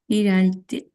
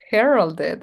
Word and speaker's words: heralded: Heralded. Heralded. Exactly. Like it's because I put it in one of her classes in the examples. Heralded. Heralded. That's correct. Exactly. So I have to pronounce everything.